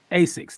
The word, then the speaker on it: Asics: I might pronounce this wrong. Asics? Asics.